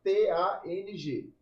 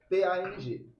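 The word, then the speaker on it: 汤: T A N G. Esse é o fonema. Exato. Começa a letra T. Ela vai ser um pouquinho diferente do português. A gente vai falar soprada.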